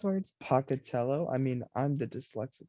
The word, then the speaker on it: Pocatello: individuals leaving ibuprofen laced hock dogs along the pocatello area did i say it right yes yeah